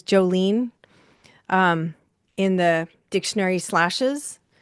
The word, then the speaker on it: Jolene: So, um this is your opportunity to say Jolene Jen um Jolene like the song like the Dolly Parton song and I'm highly skilled at motivating people to action.